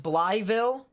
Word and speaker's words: Blytheville: like that at all it's pronounced bly ville i'm sorry that's what your grandpa says interesting okay interesting that doesn't make sense but okay so blytheville yep i will i